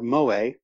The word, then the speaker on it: moe: Mo, or Moe, to pronounce it correctly, and not to pronounce it like it's the barman in The Simpsons, is a kind of cutesy, fetishized innocence marketed primarily at men.